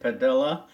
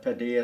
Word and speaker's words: Padilha: name is and I pronounce it padilha but Padilla is fine ok I want to